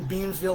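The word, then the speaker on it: Beamsville: out of 10 very good beer and I mispronounced their city so they're in Beansville Ontario Canada this is Short Hills it's a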